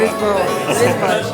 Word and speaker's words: Lisboa: Lisboa.